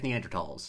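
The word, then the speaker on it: Neanderthal: feminist because he DTF Neanderls." I texted my twin brother who is an anthropology major in college to confirm that Neanderl is pronounced with a silent H.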